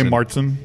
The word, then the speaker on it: Märzen: I would say Märzen.